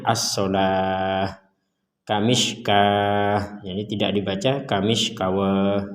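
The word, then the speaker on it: الصلاة: Jadi yang dibadal di sini adalah as-sholawah. Kalau tulisannya as-sholawah, tapi ini dibacanya as-sholah.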